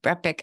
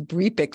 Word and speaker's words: Brepic: Brepic. I didn't know it was Brepic like Breen, but and his exclusive connectivity platform, which is the Brepic Network.